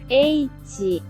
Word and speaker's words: ecchi: la libre interpretación, pues el término ecchi no es más que la pronunciación japonesa de la palabra H. Pueden darse cuenta de ello usando el traductor. Eichi.